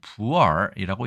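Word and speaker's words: 普洱: 우리는 보이라고 읽지만 중국에서는 부얼이라고 이야기합니다.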